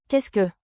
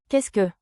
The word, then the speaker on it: Qu'est-ce: Pronunciation beat, clap with me, k e h skay, k e h skay. Beat one, you repeat slowly. Qu'est-ce ?